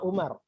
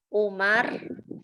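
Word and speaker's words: عمر: Adanya wawu menunjukkan bahwa dia itu Amrun, bukan Untuk Umar. membedakan. Untuk membedakannya Antara Umar dan Amr. antara Umar dan Amr. Kalau Amr itu adanya wawu.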